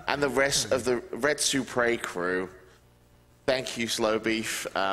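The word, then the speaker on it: Retsupurae: Part of Red Supre, which is a poor pronunciation of Let's Play.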